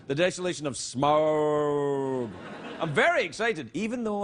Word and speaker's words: Smaug: You have to say it like that. The Desolation of Smaug.